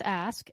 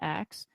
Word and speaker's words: ask: It's ask, A-S-K, not axe.